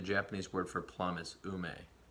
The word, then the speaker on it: ume: There might be some fruit back there, maybe an ume, which is a plum. The Japanese word for plum is ume.